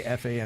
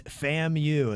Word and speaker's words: FAMU: because I didn't know I'd always say FU it's FAMU is how you say that Kevin appreciates it Virginia